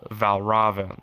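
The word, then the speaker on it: Valravn: one like uh boss in it called uh valraven right that's that's how you pronounce it and uh uh it was it's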